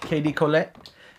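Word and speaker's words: KDcolle: That's right, KD Colette. That's how you say it.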